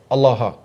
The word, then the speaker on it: Allah: said uh allaha allaha it's a different pronunciation because it wouldn't have the doubling or the shed on the lamp so it's kind of like a different dialect but the same word the same same word Allah allaha I I won't